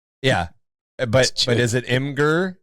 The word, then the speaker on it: Imgur: Is it Imgur? Is it Imager? Like what is it? You get people pronounce it differently. Yeah. I don't know. I've always had it as Imgur in my head, but I'm sure Imgur is just as valid.